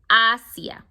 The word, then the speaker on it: Asia: Asia in Spanish, you write it the same way, but it's pronounced differently. Asia, we say Asia.